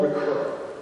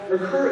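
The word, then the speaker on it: Ricœur: evil led me to the work of Paul recur his last name is spelled r i c o e r even though he's not much of a household name in the english- speaking world rur is well known in France as one of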